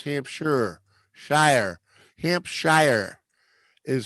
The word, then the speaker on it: Hampshire: No, it's Hampshire. Shire. Hampshire is how it's spelled.